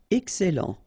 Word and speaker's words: excellent: Excellent. Okay, you've got double L here, and then it will open the sound of your E here, and it will be E. Excellent.